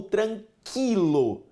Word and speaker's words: tranquilo: A letra U não é pronunciada em guiar e em tranquilo. Deixa eu te perguntar. A pronúncia correta é tranquilo ou tranquilo? Tranquilo. Só é tranquilo se você estiver na terra nostra. Tudo bem? Meus amigos, aqui o U não é pronunciado.